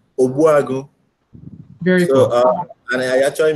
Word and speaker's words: Ogbuagu: So my name is Ogbuagu.